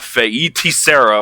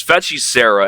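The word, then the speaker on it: Feiticeira: It's Fetchy Sarah, not Feiti Sarah or something like that, or whatever you say. It's Fetchy Sarah, and it is actually a Brazilian word that means witch or sorceress.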